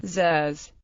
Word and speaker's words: trousers: The standard form, trousers, is also used, but it is sometimes pronounced in a manner approximately represented by trus, which is possibly a throwback to the Gaelic word truas, which the English word originates from.